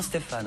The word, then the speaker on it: Stéphan: Alors ça s'écrit sans E, mais on prononce bien Stéphane.